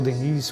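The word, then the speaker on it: Léon Denis: Leon Denis ou Denis, conforme alguns pronunciam, lá está escrito, Jesus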